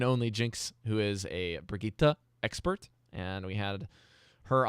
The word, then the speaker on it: Brigitte: That's how you say it. Brigitte. It's a hard Brigitte.